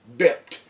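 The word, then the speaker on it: byped: good tactic, you've been bipped. B-Y-P-E-D, but it's pronounced bipped.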